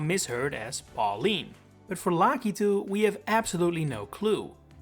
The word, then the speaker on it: Lakitu: this enemy's name as Lidu or do you say Lacatu? Well, congratulations. No matter which one of those you say, you're wrong. It's Lucky, as can be heard in the Super Mario Bros. Wonder Direct from almost 2 years ago.